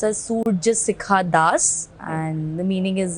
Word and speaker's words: Surjasikha Das: It is pronounced as Surya Sikha Das and the meaning is it's sun's temperature.